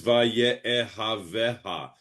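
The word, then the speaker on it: וַיֶּאֱהָבֶהָ: Anyway, the word is va'ye'ehav'eha. It's six syllables all condensed into the one word.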